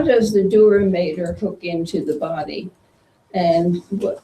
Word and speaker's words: dura mater: I don't know how to pronounce this shit. Yeah. Something Okay, I like think that. it is Dura mater.